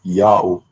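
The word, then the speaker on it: Jahoh: letter j but that letter j is y sound in latin and the h is silent it's not the first letter word therefore j a h o h is pronounced yao in the latin language a reason to be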